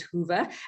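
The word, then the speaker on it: Whova: on to the wova hoover app i think it's hoover app w-h-o-v-a that's how it's pronounced as hoover and log into your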